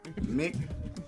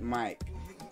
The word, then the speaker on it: mic: Mick, M-I-C. Mick, not Mike.